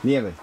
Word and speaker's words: nieve: Ricky, how do you say snow in Spanish? Es snow. That's definitely not true. Nieve.